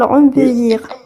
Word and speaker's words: embellir: Ces procédures, considérées comme relativement simples, visent à comment prononcer embellir ou embellir?